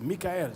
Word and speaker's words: Mikhail: japascara and Mikhail I say Mikhail because I talked to Michael earlier now and I said please pronounce your name for me he said Mikhail so it deserves to be pronounced correctly this event is presented